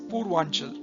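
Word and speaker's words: Purvanchal: and Manipur Hills okay this is known as Pur wanel okay some places the n is for gotten and it is referred to as purel but the actual pronunciation I think is Pur wanel with the N Pur wanel okay next question give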